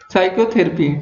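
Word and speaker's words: psychotherapy: Which letter is silent in द साइकोथेरेपी।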